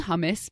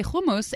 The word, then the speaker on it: hummus: that I have where I hate saying hummus because it just pains me to have to say it but when I say homos it makes me feel pretentious so there's plenty of